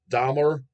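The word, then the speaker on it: Dmaar: pronouncing these names haha dmer d m d m a a r dmer like Jeffrey dmer dear from Lebanon that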